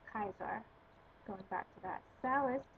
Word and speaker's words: Caesar: salus and of course caesar would be pronounced kaiser going back to that